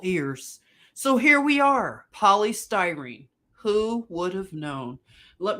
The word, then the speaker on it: polystyrene: all of this was going on here so polycystream if I'm not saying it right polystyrene sorry polystyrene it is a synthetic polymer made from monomers